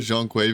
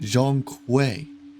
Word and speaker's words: Zhong Kui: second ago and he he pronounces it Jean qu Jean qu that's how he says it in game okay so